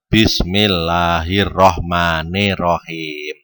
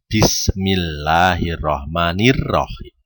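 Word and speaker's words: بسم الله الرحمن الرحيم: ya oke bismillahirrohmanirrohim bismillahirrohmanirrohim itu kadang anak-anak tuh bacanya Bismillahirohmanirohim organ hem tapi SIM ya bukan Desta pipis Bismillahirrohmanirrohim Oke Eden pertama watini wazaitun babor izin ingin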